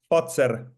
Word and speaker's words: Fazer: It's not Pfizer, as in the Moderna type thing. It's Fazer. Fazer. Correct.